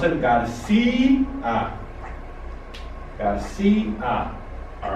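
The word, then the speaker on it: García: But we carry an accent to break the diphthongo and pronounce it Garcia.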